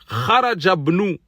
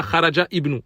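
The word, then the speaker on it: خرج ابن: Le deuxième, il dit Kharajabnu at-tabibi min al-bayti. Le fils du médecin est sorti de la maison. Donc, Kharajabnu. Kharajabnu. On ne dit pas Kharaja ibnu.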